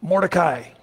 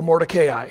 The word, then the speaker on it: Mordecai: Another person is introduced, Mordecai, or Mordecai, however you'd like to pronounce it.